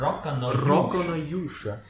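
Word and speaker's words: Rokka no Yūsha: How is it pronounced? Rock no Yusha.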